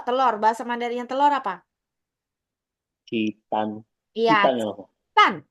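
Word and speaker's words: 鸡蛋: Citan. Citan Citan. Harus belakangnya harus nada keempat.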